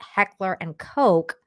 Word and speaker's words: Heckler & Koch: uh it it's per it's pronounced Heckler and Coke but everyone calls it HK uh they are overpriced